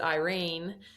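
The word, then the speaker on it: Yrene: she connects um with I pronounced it Irene y r NE e Irene um in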